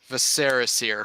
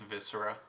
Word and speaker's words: viscera: Viserysir passed the turn. That's the weirdest way I've ever heard anyone pronounce viscera.